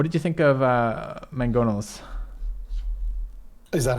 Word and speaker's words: mangonel: apparently it has two it's spelled with one g but that sound is in there twice it's mangonel apparently which is so weird yeah i mean